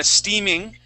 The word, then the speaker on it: steaming: read uh steaming, okay, you had read it with a short e sound, but the second time you read it correctly. Okay. So, I'm gonna I'm gonna move on from that one. Just remember that uh that e that ea here is a long e sound.